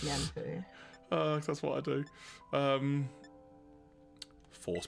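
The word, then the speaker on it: Mienfoo: Mind Fu. Oh, it's Mienfu. Oh, so cute. That's how I've been pronouncing it.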